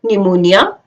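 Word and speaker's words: pneumonia: जब भी पी एन से पहले या एस से पहले लिखा जाएगा तो पी साइलेंट रहेगा. फॉर एग्जाम्पल निमोनिया, साम, साइकोलॉजी, न्यूमेटिक्स, एक्सेट्रा.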